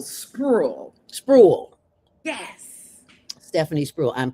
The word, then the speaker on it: Spruill: Stephanie Spruill coming to the stage. I want to be Definitely. And it's Oh. one syllable, Spruill.